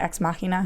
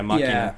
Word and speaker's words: Ex Machina: I still can't pronounce that. Is that how you say it? Ex Machina? Yeah, Machina.